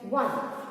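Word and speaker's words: won: win का W-O-N, one. And remember बेटा इसको वन नहीं बोलते हैं, जो only one का साउंड होता है, the same sound is वन. हाँ, वन नहीं इसको प्रोनाउंस करना, please pronounce it एज वन.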